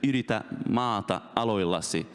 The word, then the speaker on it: yritä maata aloillasi: All right, so I can now pronounce it correctly. It's "yritä maata aloillasi."